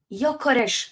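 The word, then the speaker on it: Gyökeres: wait let me hear it one more time Yokes now I know Victor yores okay I think it's important to know how to pronounce people's names you know I respect so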